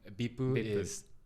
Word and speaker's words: VIP: acronyms in japanese um they don't pronounce each letter no they try to pronounce the word so bipur um to picture that